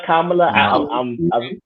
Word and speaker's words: Kamala: Am I pronouncing it Kamala? Kamala.